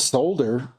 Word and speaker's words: solder: It's spelled solder. Why do we say solder with no L in America? Because that's just what Americans do.